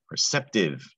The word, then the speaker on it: perceptive: All right, the first word here starts with purr. That's an R-controlled sound, purr. That gets confused with pre a lot. So compare those two. This middle syllable here, that is sep. That C is going to be a soft C because it's followed by an E. Sep, sept. Is that tie? No, that's perceptive.